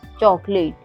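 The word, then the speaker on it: chocolate: जैसे है चॉकलेट, चॉकलेट में ओ के बाद एल आया हुआ है, कोई कंसोनेंट, इसके बाद ए आया हुआ है, तो यहाँ पे ओ साइलेंट है।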